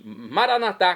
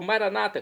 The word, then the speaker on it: maranatá: E agora eu clamo do aramaico dialeto de Jesus, maranatá, como dizemos nós católicos, ou maranata, como dizem nossos irmãos separados, os evangélicos ou protestantes, não importa.